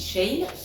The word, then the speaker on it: Shein: ce n'est pas en la prononciation de chacun moi je dis Shane j'ai commandé deux petits